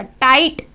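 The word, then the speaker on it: tight: टाइट, GH silent हो गया।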